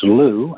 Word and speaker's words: Llew: oh and my email is Lou and I spell that differently it is ll e w at whales BMI it's